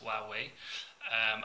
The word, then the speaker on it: Huawei: Basically, Honor are a division of the company called Huawei, which many of us struggle to pronounce, but that's how it's pronounced, Huawei.